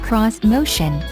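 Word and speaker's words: Xmotion: cutting-edge crossovers and suv's this motion pronounced cross motion uses a three row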